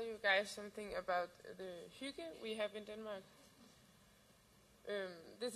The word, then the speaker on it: hygge: And then I will tell you guys something about the hygge we have in Denmark. This is how you pronounce hygge.